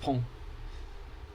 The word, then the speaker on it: Pont: It's called pont pronounced pong.